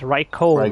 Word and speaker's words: Raikou: I know it's pronounced Raikou. Raikou. It's Raikou. Sounds like you're trying to say Riku.